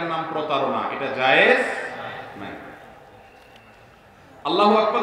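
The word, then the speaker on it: الله أكبر: আল্লাহু আকবার উচ্চারণ করার সময় আকবারের রাকে টেনে পড়া ঠিক হবে কিনা, না ঠিক হবে কেন, তাজবীদের সাথে বলতে হবে আল্লাহু আকবার আল্লাহু আকবার, এরকম বলা যাবে না।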